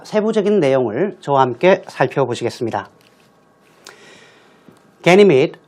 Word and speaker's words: Ganymede: Ganymede, 우리말로는 가니메데라고 발음 나는 대로 읽습니다만 영어는 Ganymede, which orbits Jupiter and is the largest moon in the solar system.